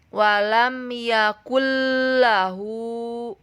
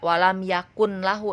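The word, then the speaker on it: وَلَمْ يَكُن لَّهُ: Cara bacanya walam yakullahu, tidak walam yakun lahu tetapi walam yakullahu. Langsung aja bacanya karena tidak dengan dengung.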